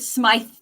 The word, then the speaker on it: Smythe: I'm pronouncing it Smythe these days, but however it comes from your lips, Madame, it will be a joy.